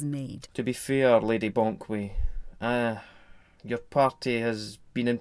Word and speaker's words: Banquet: This week I have the pleasure of having the Culture and Arts Minister, Lady Gertrude Banquet. It's pronounced Bonkway.